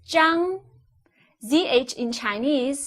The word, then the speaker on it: Zhang: z h ang how would you address him would you address him as mr zhang know CH ang is pronounced as jung CH in chinese sounds